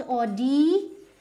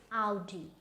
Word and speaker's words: Audi: So now we have now this is not Audi. Now this is Audi, right? So this is again a German brand.